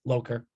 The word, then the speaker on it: Loker: I get it right it's just a long o Loker all right I'm writing